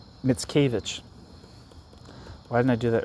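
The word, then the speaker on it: Mickiewicz: Mitskavich.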